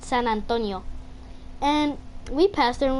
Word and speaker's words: San Antonio: But in Spanish, we pronounce it San Antonio.